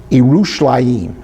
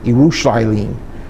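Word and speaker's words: ירושלים: It would be pronounced Yerushalayim, okay? So not Jerusalem, Yerushalayim, okay?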